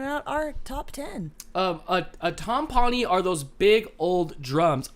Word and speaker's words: timpani: A timpani are those big old drums.